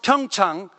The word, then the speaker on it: Pyeongchang: to pyongyang in december when you pronounce pyeongchang it consists of two syllables pyong the first syllable means peace and second syllable chang means prosperity so pyeongchang together means